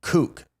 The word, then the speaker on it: Coke: Hey, in re Edward in re Sir Edward Coke. His surname is pronounced Cook.